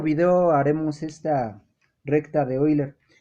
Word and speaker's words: Euler: de la recta de hoy la recta de boiler euler se escribe euler se pronuncia hoy la que dice la recta